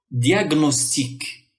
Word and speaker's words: diagnostique: grec du latin ou et se font entendre séparément comme dans diagnostique diagnostique diag diagnostique diagnostique